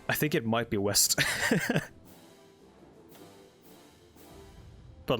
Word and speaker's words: West: I think it might be West. But like pronounced West, because W is like a V sound.